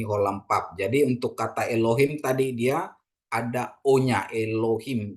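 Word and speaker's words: אֱלֹהִים: Ini ada patah, ada segol. Jadi bacanya Elohim ya.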